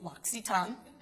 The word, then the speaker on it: L'Occitane: So, the L'Occitane family, I'll tell you a little bit about them if you don't know, and the way you pronounce it is L'Occitane.